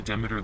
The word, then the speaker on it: Demeter: go through oh i haven't used the the demeter laser beams i want to say demeter because i know that's how people pronounce her name but in the game it's